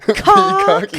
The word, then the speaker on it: Peacock: say it like that let me put those two words together peacock peacock yeah emphasis on the PE but um yeah it's